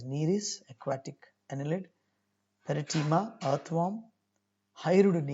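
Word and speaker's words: Nereis: of the examples and it is pronounced as neres aquatic annelid peritema earthworm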